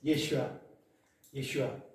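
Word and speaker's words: Yeshua: 히브리식 이름으로 여호수아를 어떻게 발음합니까? 우리 배성 지사님 한번 발음 한번 해주세요. 알잖아요. 예슈아.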